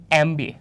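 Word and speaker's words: MBA: তিনটা এক্সাম্পলের মধ্যে প্রথমটা ধর পড়লাম হি ইজ এ এমবিএ। আচ্ছা প্রথমত এটা আসলে ভুল আছে। ঠিক আছে? কেন? কারণ এইটা উচ্চারণ হচ্ছে এমবি এ।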